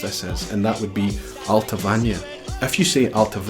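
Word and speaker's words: Allt-a-Bhainne: have to go back to the the Gallic pronunciations to try and watch our vest with the lens lessons and that would be alpha Vanya if you see out of in al-qaboun or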